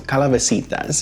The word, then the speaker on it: calabacitas: me about my uh saying it the proper way so calabasitas is how it should be pronounced so let me bring